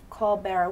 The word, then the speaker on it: caul bearer: Union a apple L Larry it sound it's pronounced like Co but it's co barer call barer what what is that that means I was